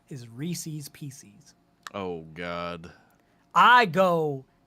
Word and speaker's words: Reese's: words not just one the name Reese Reese's races if it belongs to Rhys it is Reese's there's literally and the